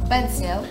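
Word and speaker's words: bánh xèo: Banseo. Des banseo. Waouh, belle prononciation.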